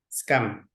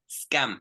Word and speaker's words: scam: sound SC scum scum scum very good scum it's an insult it's it's so that's careful you have to say scam because the scum is a person that it's ah okay